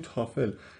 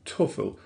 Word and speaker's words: TOEFL: یه چیز کوچیکی راجع به پرونانسییشن تافل یادم رفت بهتون بگم اینه که ما تو فارسی میگیم تافل ولی پرونانونسیشن اصلی تو انگلیسی توفل هستش. او تلفظ میشه.